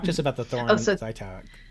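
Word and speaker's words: Żytkow: us about the Thorn Zeitkow. So I had to email Anna Zhitkov to make sure that I was pronouncing it right. Okay. So it's Thorn Zhitkov object.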